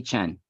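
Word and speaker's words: Chene: by the documentary filmmaker Anthony Shane I believe is the pronunciation you're pretty close Anthony Chen Chen and uh he does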